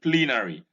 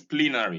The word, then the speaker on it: plenary: even, in cedar, in plenary. This is plenary, not plenary. You're likely to pronounce this word as plenary based on its alphabetic spelling.